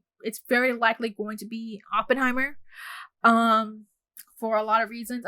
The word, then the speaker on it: Oppenheimer: Okay, I've been saying his name wrong, but basically Oppenheimer, seeing the perspective of Oppenheimer and the physicist